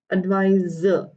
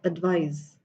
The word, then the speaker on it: advise: And the second one, this one, advise, like z, advise. Huh?